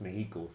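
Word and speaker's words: México: The actual pronunciation is Mexico.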